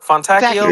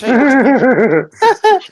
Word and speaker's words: Fontecchio: Fontacchio? Fontacchio? Fontecchio. Yeah. Fontecchio, there you So go. Simone Fatacchio, he said Fontacchino. It's Fontecchio.